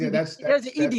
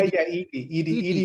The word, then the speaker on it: Edhi: That's ED. Is how you say ED, not yeah, Eddie. ED means love. ED is Gujarati.